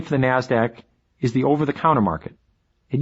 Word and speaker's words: NASDAQ: Stock Exchange NYSE and the NASDAQ which is pronounced NASDAQ NASDAQ stands for the National Association of Securities